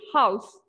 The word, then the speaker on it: house: The thing is that Thank you, in the beginning, the word house, you pronounced it like horse. So it's actually house.